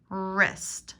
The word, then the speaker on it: wrist: is a prosthetic replacement wrist wrist silent w the part of your